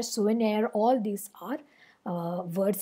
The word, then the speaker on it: souvenir: long or stressed syllable souvenir so were they are both unstressed and near is the stressed syllable so debonair souvenir all these are uh